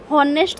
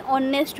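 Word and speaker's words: honest: sorry ए तो ऑनेस्ट होनेस्ट तो हो नहीं ऑनेस्ट वे तेन कौन हो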